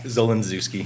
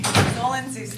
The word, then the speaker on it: Zolindzewski: How do you say your name? Zolindzewski. Zolindzewski. She was close.